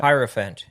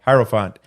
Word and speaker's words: hierophant: in Spanish sometimes he's referred to as the Hyrule font is that how I pronounce that hierophant yeah hierophant um I guess the one who teaches about